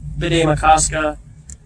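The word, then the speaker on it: Bde Maka Ska: I hang out here and do this often, so I'm often around the Lake Bidet-Makaska area. That's how it's pronounced.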